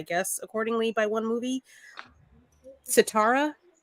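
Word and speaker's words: Sitara: sure I remember uh s it's satara SI t a r a it means star so yeah it's I mean she's she was the director writer and producer on that sound like the way it's spelled it sound like someone from Japan say star it's a little the spelling will always throw you off but you know you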